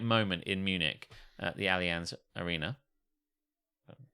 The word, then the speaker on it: Allianz: that perfect perfect moment in Munich at the Allianz Arena um said it right you did and